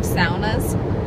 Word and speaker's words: sauna: Also, I'm going back to Bemidji so I can take saunas. Saunas, as people call them, but I call it sauna because it's the appropriate Finlander way to pronounce it.